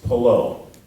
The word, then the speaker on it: Palou: I think it's Palou. That's perfect.